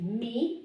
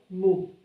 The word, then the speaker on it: mu: This is our M, it's me or mu. You can see we have it the two ways. The one I sent you from a book is me, and in the other one is mu. Both of them are okay, but this is our M, me.